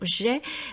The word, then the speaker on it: j'ai: j'ai, vous voyez, donc on doit bien prononcer également le son j'ai. Une nouvelle faute que j'ai remarqué, les gens disent ja, je ne sais pas